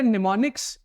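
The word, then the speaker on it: mnemonics: बताता हूं सबसे पहले निमोनिक्स इसमें स्टार्टिंग है एम से बट इसको हम पढ़ते हैं निमोनिक्स इसमें एम साइलेंट होता होता है चलिए बताता हूं निमोनिक्स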